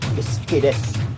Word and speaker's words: Sukidesu: Kung basahon na nimo Sukidesu, pero ang pag-pronounce na is Iskides.